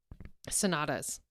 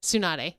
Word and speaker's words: Tsunade: Like, oh, actually, Sonatas.